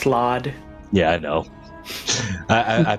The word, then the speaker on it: slaad: control it so we need to find the salad and i'm purposefully mispronouncing it it's pronounced slaad yeah i know i i pit them against